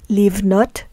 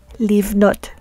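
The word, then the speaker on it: לבנות: So in the examples we have here, we have livnot, which means to build, and the prefix lamed is pronounced as a li, livnot, to build.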